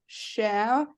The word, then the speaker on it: chamois: Pronunciation guide. It literally says chamois.